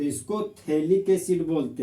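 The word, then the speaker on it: phthalic: जहां पर pH silent होता है तो इस कंपाउंड को कॉमन नेम में आइसोथैलिक एसिड बोलते हैं।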